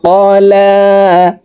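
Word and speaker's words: قَلَىٰ: রব্বুকা রব্বুকা ওয়া মা ক্বালা। লামের উপরে খাড়া জবর, তাই আমরা এই লাম হরফকে এক আলিফ টেনে পড়ব। ওয়া মা ক্বালা রব্বুকা ওয়া মা ক্বালা মা ওয়াদ্দাআকা রব্বুকা ওয়া মা ক্বালা মা ওয়াদ্দাআকা রব্বুকা ওয়া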